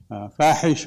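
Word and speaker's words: فاحش: know what that means fahes means obscene and it rhymes with d dases is not a denigration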